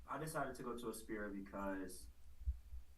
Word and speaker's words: Aspira: been saying it wrong it's a spirit not a spiral sorry about that didn't